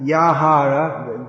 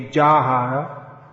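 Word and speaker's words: যাহার: Yeah, Yahara, because Bengali should be Jahara. Jahara Prasade Bhai.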